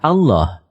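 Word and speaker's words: الله: lam yang dites dites lalu lam yang kedua dibaca tebal sehingga dibaca Allah demikian pendapat ahli bahasa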